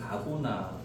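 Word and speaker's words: ἀγών: 자, 여기서 어 싸움으로 번역된 헬라어 단어는 아고나 헬라어로 선한 어 싸움의이 발음 아고나인데이 아고나가 싸움이 이제이 경기, 경쟁, 투쟁, 싸움 이런 내용입니다.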